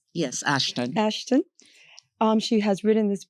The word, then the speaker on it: Ashton: Did I pronounce that right? Yes, Ashton.